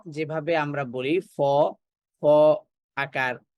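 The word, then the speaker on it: فاء: কেও আমরা উচ্চারণ করব তাহলে আরবি বর্ণ ফা উচ্চারিত হয় উচ্চারিত হয় উপরের পাটির সামনের যে দুইটা দাঁত আছে সেই দুই দাঁতের ধারালো অংশটা নিচের ঠোঁটের পেটে লাগবে এখানে আমরা চিত্রের দিকে খেয়াল করলে বিষয়টা আরো সহজে বুঝতে পারবে।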